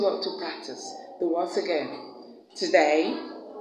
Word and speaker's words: again: We have that sound at the beginning of the words around, also, again, and at the first syllable of the word today, and the first syllable of the word tomorrow. Tomorrow.